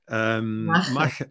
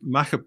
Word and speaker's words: Machair: We came up with the idea for a soap which was called Machair. People have trouble pronouncing that. Machair. Machair.